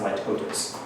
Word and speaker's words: litotes: Yes, most people pronounce it litotes. I've also heard it pronounced litotes. But litotes is the most commonly accepted pronunciation of this, and it means a dramatic understatement.